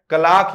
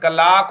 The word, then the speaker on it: clerk: याद रखना है जी, CLERK जो है इसका प्रोनाउंसिएशन कलाक होगा, याद रख लेना मेरे भाई। ठीक है, कलाक, ठीक है भाई, कलाक हो जाएगा। विशेष फोकस करना है इस वर्ड पर। हम क्लर्क क्लर्क बोलते हैं, इसका प्रोनाउंसिएशन कलाक होता है।